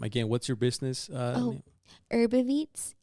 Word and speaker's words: Herbiveats: Herbaveets. Herbaveets. Yes, like herb and then IVEATS.